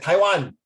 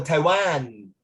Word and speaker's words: Taiwan: You don't pronounce it Taiwan. More than one syllable if it's Taiwan, no, Taiwan. Okay, but China is China.